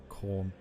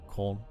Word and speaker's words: Khorne: Pronounced like corn. I assume it was like corn.